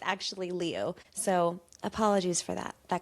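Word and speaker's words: Liu: I watched a bunch of videos about how it's typically pronounced Leu, but some people will request that it's pronounced Lou.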